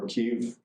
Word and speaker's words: Kyiv: the whole area of Kiev, or Kyiv, depending on how you pronounce it, it's pronounced both ways, was really one of